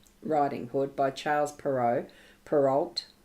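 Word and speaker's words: Perrault: Hood by Charles perau peralt I think it's pronounced perau is a t relating to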